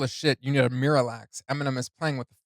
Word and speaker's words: Miralax: The way M pronounces it, Miralax, is also a homophone to the phrase mirror relax from the previous line.